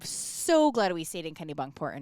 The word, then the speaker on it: Kennebunkport: go we stayed in Kennebunkport Kenny bunkport Kennebunkport and actually it's the first time I said it right I think that's correct